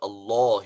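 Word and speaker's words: الله: the rule of course whenever alam of jalal allah is preceded by father or bomb so alam is pronounced heavy but if it is preceded by kasra like bismillahi it is light so this is the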